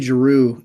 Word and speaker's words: Giroux: of that composer again her name is Julie Giroux girou is spelled g-i-r-o-u-x um you see she wrote this